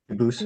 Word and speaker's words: Dubus: I know a family with the same exact spelling in America, and they do pronounce it Dubus, but you said you pronounce it Dubus, Dubus? as the original Dubus, as the original French.